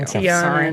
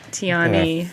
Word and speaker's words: Tiana: ] oh my gosh there's an A on the end of how dare you Tiana not Tiani wait you know I